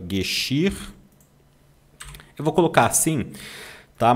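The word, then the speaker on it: Geschirr: Gexir. Eu vou colocar assim, tá? Mas não é gu, você nunca vai pronunciar gu é gxir.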